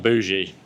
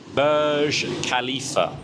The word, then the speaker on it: Burj Khalifa: It's not bougie. It ain't no bougie khalifa. I still I still pronounce wrong. It is the Burge Burge Burj Khalifa Burj Khalifa.